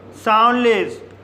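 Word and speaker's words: soundless: इसी तरह से साउंडलेस साउंडलेस वर्ड में पहला सिलेबल एन डी से समाप्त हुआ है और दूसरा सिलेबल कंसोनेंट एल से शुरू हुआ है। इसलिए डी साइलेंट रहेगा। इसलिए इसे साउंडलेस पढ़ा जाता है।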